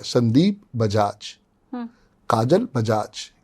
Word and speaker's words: काजोल: बुला रही थी तो मैंने काजल ही कहा था लेकिन फिर हमने जब स्पेलिंग उनकी देखी तो उसमें काजोल लिखा हुआ था काजोल एस बजाज